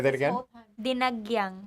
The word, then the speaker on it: Dinagyang: Dinagyang. Dinigyan. No. Dinagyang. There's no Dinagyan. A between G and Y.